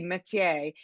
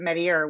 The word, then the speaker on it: Metier: This Point Metier, and it's pronounced like the French way would be métier, but of course the residents pronounce it Metier, which is, again, sort